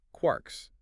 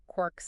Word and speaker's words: quarks: They're made of quarks. Quarks named by Murray Gellman from James Choice. That's the story. Three quarks for mustark from Finnegan's Wake. Most physicists say it like lark, not quart.